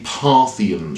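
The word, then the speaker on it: Parthian: of my favorites and it's because it's a mispronunciation the original was a parthan shot referring to the parean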